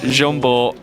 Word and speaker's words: Jombo: Well, everyone calls him John, so we'll call him John, but I believe it is Jombo Komorami. Komorami. I know his first name. Jombo. I'm pretty sure it's pronounced like that.